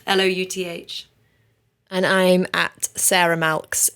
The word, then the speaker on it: Louth: and then Louth, like mouth, Louth.